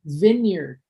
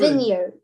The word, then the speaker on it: vineyard: Pronunciation. Vineyard. Say that word. Vineyard.